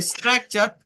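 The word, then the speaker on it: structure: শব্দের শেষে যদি টি ইউ আর ই থাকে তার উচ্চারণ চার হয়।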